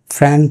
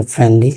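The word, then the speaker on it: foreign: ফরেন বলি, এর উচ্চারণটা ফরেন মানে কি?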